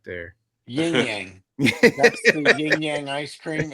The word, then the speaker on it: Yin-Yang: Yin-Yang.